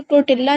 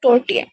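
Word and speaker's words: tortilla: Electric टोर्टिया press electric टोर्टिया press आपने इसको टोर्टिला नहीं पढ़ना, इसके अंदर जो है एल साइलेंट है, तो ये बनेगा टोर्टिया।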